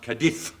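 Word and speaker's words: Cádiz: It's pronounced Cadiz. Oh, all right then, Cadiz.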